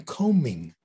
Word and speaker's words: combing: Why do we pronounce the B in combination, but not in combing.